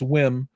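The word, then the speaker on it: WiiM: with we or whim I've been saying it wrong it's not we it's whim um and I got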